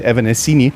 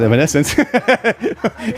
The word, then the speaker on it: Evanescence: uh a band that some Germans would say still say evanescini but it's called Evanescence when this fan came